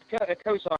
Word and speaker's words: Kosar: your last name wrong is it Kar yes Kar k a r okay just like it spelled I don't know why